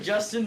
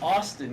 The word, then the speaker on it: Austin: I've been reading his name wrong. It looks like Justin because Discord blocks like part of Justin? the thing. It's Austin, yeah, it's Yeah, Austin.